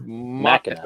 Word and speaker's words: Machina: It looks like Ex Machina, but I've heard it pronounced Machina. It's Machina. Machina.